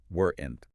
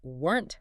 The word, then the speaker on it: weren't: The key to sounding native and fluent here is to pronounce weren't very fast as one single tight clipped syllable.